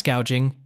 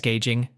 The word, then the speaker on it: gouging: federal ban on price gouging which she noticeably mispronounced as price gauging has been making headlines